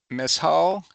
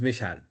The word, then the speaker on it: Mishal: So about Miss Hall, is that how you pronounce your name? And please correct me if I pronounced it wrong. Yes, yes. My name is Mishal.